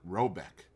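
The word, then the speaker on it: Råbäck: hair guard in question is to be called rabach pronounced something like robc though that is not its name it is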